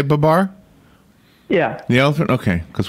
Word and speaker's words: Babar: Babar, Babar, Babar. Babar. You say Babar?